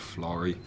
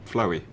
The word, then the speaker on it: Florrie: I heard all the stories, you know, about the ghost called Florrie, but I kept on getting her name wrong one night. I kept on calling her Floey.